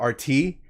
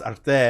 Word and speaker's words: Arte: because I think we called it RT, and then you're like, no, it's Arte, and I'm like, well, I mean, No need to say it anyway, but it's nice.